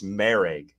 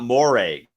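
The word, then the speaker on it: Moehrig: It's Marag. Okay. It is not Morag. To say it's Morag, everything I've heard, I watched a Las Vegas Raiders interview with him, and they said Marag. So Trayvon Marag is how it's pronounced.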